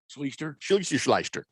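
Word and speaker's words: Schlichter: his name again well i didn't mispronounce it that's actually how you say it sleester uh big george says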